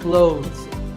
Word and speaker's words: clothes: When we say clothes, the TH in the middle can often be silent. Clothes. But it's not wrong if you say these letters with a the sound. Clothes. That's also correct.